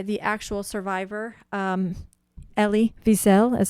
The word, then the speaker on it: Wiesel: story told by the actual survivor um ellie wiesel is how you say his last name and